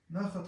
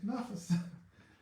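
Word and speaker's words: נחת: Nachat ruach. I give Him, how do you say nachat ruach? So nachas.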